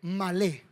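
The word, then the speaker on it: מלא: Esta palabra llenen, sí, en hebreo es malé, con acento en la E, malé.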